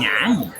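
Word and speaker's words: 安逸: 注意这个发音啊，安逸。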